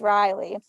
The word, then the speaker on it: Reilly: can spell it v-a-r-e-i-t-y like my name is riley yeah but it so it's spelled rei lloyd everyone calls me like